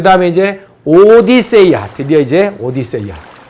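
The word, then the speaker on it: Ὀδύσσεια: 그 다음에 이제 오디세이아. 드디어 이제 오디세이아. 이 오디세이아라고 하는 거는요, 오디세이의 그리스적 원문 발음이 오디세이아고요. 영어로는 오디세이. 그리스 말로는 뭐라고요? 오디세이아.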